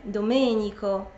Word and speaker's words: Domenico: Dawidy Dawidy później mamy nie Domenico jak Dominik ale Domenico Domenico mamy też nie Angelo